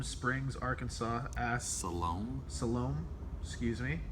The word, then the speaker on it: Siloam: Jackson from Siloam Springs, Arkansas asks... Siloam? Excuse me. Spell it. S-I-L-O-A-M. S-I-L-O-M? O-A-M. Siloam. Siloam Springs, Arkansas.